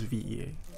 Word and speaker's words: VE.A: VE.A, pronounce all the letters. Okay, so I was right, it is VE.A.